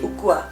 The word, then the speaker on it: ukua: Contohnya ukur. Ukur diganti menjadi ukua.